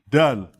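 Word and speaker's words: دال: Dad is not the same as Del. Del, right? Del is like this, And it is spelled in Arabic like that. Dal. Right? So Dod and Dal.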